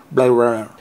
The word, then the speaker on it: Blade Runner: ou encore Premier Contact, Blade Runner, prononcé à l'américaine, Blade Runner.